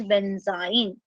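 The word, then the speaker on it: benzyne: तो उसको हम क्या प्रोनाउंस करते हैं, that is considered as बेंजाइन। उसको क्या बोला जाता है, बेंजाइन।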